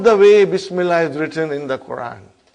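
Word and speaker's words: بسم الله: If you took out B, how will you pronounce now? Ismullahi. What will you say? Ismullahi. Bring B, Bismillahi. Bismillahi.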